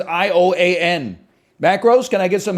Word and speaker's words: Ioan Gruffudd: I don't know how to pronounce his name. It's Ioan.